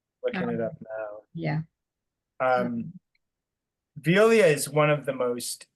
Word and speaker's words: Veolia: Is that how you pronounce it? Oh, Veolia.